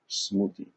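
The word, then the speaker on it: Smriti: literature or sacred literature is called smoothie smoothie and that's spelled as s-m-r-i-t-i which literally means that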